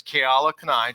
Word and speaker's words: Keala Kanae: Russell's really excited, so he mispronounced that. It's Keala, Kanae, just so we're clear. And don't worry, almost nobody gets it right.